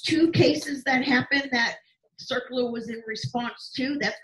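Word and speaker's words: CERCLA: of texas too hey circular this is your very first environmental legislation they may call it circular c-e-r-c-l-a or they may spell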